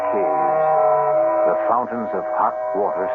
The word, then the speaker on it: cave: word spelled the same way C A but pronounced cave it means beware our cast included Marian